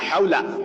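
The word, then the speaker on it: حول: লা হাওলা, এই হা কিন্তু দুইটা আছে, একটা হচ্ছে হায়া হুত্তি আর একটা হচ্ছে হায়া হাওয়াস। আপনাকে অবশ্যই এই হাটা হায়া হুত্তি যেটা, এটা পড়তে হবে। লা হাওলা ওয়ালা কুওয়াতা, এই যে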